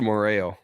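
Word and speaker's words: Moreau: then how do you say his name faster moreo that's what I said yeah so I can't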